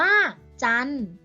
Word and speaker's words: จันทร์: คำ ว่า จันทร์ ซึ่ง คำ ว่า จันทร์ จะ มี ตัว การันต์ 2 ตัว ก็ คือ ท. ทหาร และ รอ เรือ จะ มี ไม้ ทัณฑฆาต กำกับ ไว้ ด้าน บน เรา ก็ จะ ไม่ ออก เสียง พยัญชนะ 2 ตัว นี้ ค่ะ ขอ 2 บริสุทธิ์